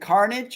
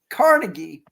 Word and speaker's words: Carnegie: Is it Carnage or Carnegie? Carnegie. Like Carnegie Hall in Chicago.